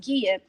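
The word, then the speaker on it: Gia: prince it looks like it's jia but it's pronounced gea and she happens to be the wife to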